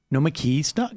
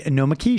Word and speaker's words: Nomiki: And joining us in studio, Nomiki Const of the Nomiki Show.